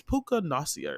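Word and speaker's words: Puka Nacua: the the the receiver nasia I believe that's how you say his name it's it's puka nasia or something like that but um he had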